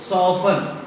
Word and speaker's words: soften: दूसरा वर्ड है SOFTEN, अब यहाँ भी TEN लास्ट में है, इसको आप पढ़ेंगे सॉफन।